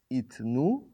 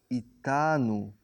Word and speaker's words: איתנו: It, itnu, pronounced itanu.